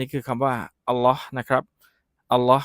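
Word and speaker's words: الله: รู้ จัก ก่อน คำ นี้ คือ คำ ว่า อัลเลาะห์ นะ ครับ อัลเลาะห์ ก็ คือ ชื่อ ของ พระ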